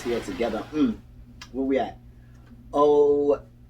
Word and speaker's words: ophidiophobia: Ophidiophobia. Ophidio. It sounds better than what I said. Yeah, ophidio. The PH is making enough sound, so oph.